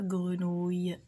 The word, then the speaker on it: grenouille: Alors هنا la grenouille quand vous regardez la grenouille عندي الناس كتخلي هاد اي وكتنطق غير وي. non il faut prononcer la grenouille i.